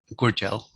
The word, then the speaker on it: Gudjal: longer able to communicate, and Rangi Pope, who pronounced his language name as Gudjal.